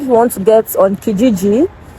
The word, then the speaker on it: Kijiji: Canada I think you want to get on KGG it's spelled k-i-g-i-g-i or Facebook Marketplace those are many